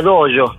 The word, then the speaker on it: dojo: dojo se dice claro se escribe dojo con j y se pronuncia doyo Ah doyo significa en